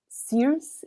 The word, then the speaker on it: Circe: There was one time where people kept saying Circe instead of Circe, and I was very confused.